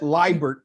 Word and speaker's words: Liebert: There is a equally hirsutely challenged gentleman here with me, Michael Liebert. Michael, first of all, am I pronouncing your last name correctly? Yes, you are.